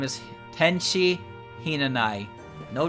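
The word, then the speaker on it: Hinanawi: my name is tenshi Hina and i with a silent w I'm a celestial well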